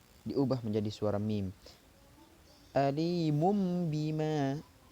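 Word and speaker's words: أَلِيمٌ بِمَا: Alimum bima. Jadi bukan alimun atau alimun, salah. Tapi alimum bima kanu yaksibun.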